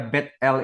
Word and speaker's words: Bethel: l itu adalah Elohim Jadi kalau GBI gereja Battle Indonesia sebenarnya bacanya Gereja Bethel Indonesia itu lebih tepat saudara